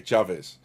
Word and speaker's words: Chavez: Mine's a little different origin, Cha, and then Viz. Okay, Chavez.